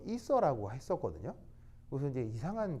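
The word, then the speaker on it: ether: 뭐냐면 아니 뭐 여기 있어 이게 아니고 자 이거 이게 이제 일본식으로 읽으면 에테르 에테르 알겠어요? 근데 영어식으로 읽으면 이서 여기 이제 이렇게 알겠죠? 이서 알겠죠?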